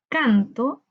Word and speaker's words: canto: No es lo mismo decir canto que cantó. Hay una diferencia muy notoria. Canto, cantó. Veamos, cuando decimos canto, canto, la sílaba tónica la encontramos en can, canto.